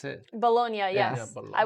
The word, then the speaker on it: Bologna: Is that how you pronounce it? Bologna, yes.